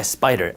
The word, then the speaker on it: SPDR: an ETF made by spider spdr they're pronounced spider but these are two